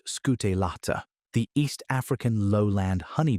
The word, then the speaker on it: scutellata: Apis mellifera scutellata, pronounced scutellata, the East African lowland honey bee, arrived at a different answer to the same question of how to stay alive.